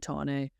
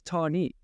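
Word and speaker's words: Tahnée: They're doing hardline, Tane or Tani. Why do I think it's? I mean, I don't even say it correctly, and everyone else says Tani.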